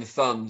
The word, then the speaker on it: Thun: I should say you just pronounced your own name just then, Thun.